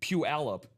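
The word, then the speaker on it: Puyallup: It's a three-cllable word with the stress on the second syllable. Commonly pronounced as puallup.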